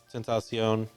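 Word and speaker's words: XXXTentacion: Essentially, yeah, but it's on par with essentially an XXX Tentacion.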